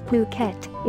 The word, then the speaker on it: Phuket: worldwide the beautiful tropical island of Phuket fortunately pronounced as Phuket is frequently and justifiably